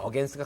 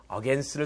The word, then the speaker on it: against: 자, 그렇게 이럴 때는 against가 가장 합당하다라고 보는 겁니다. 이렇게 뭔가 부딪히거나 싸우거나 맞서거나 대항하거나 그런 느낌을 줄 때는 against를 써주면 되겠습니다. 발음은 제가 어제 했었죠. 이거 against 아니라 뭐라고요? against.